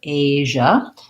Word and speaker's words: Asia: that j sound basically it's like the sh sound plus the voice so if you can say sh and then turn your voice on then you have what you need for asia and it has the tense a and then my sound and this i a just says choi asia so you could write it like this age this part is the